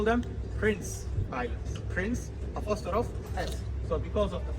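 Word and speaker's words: Princes' Islands: call them princess Islands so this is wrongly you shouldn't call them princess Islands you should call them Prince Islands Prince so because of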